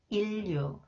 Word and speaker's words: 인류: Okay, when the final consonants 니은 is followed by 리을, 니은 is pronounced 리을. Okay, 신랑, 신랑, 진로, 진로, 인류, 인류, 관리비, 관리비, 편리하다, 편리하다.